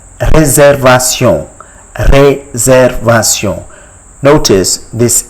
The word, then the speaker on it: réservation: It is called réservation.